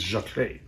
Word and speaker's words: Jacqueline: It's not Zikling. Now they're saying it's Jacqueline. Well, it's French.